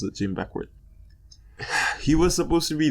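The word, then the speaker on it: Jim Beckwourth: Yeah, that's how you pronounce it, Jim Beckworth.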